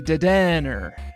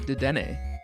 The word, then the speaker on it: Dedenne: It's a Pokemon podcast starring me, Dedenne. Dedenne? Dedenne? You tell me. I don't know. I would call it Dedenne.